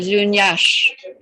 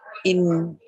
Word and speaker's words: Lughnasadh: And Lunyash, also an interesting spelling, Lughnasadh. Lunyash on the 1st of August.